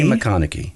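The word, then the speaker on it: McConaughy: I say McConaughey.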